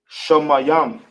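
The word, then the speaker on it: Shamayim: There's heaven in English. You can write that down. How we pronounce it in the ancient will be Shamayam.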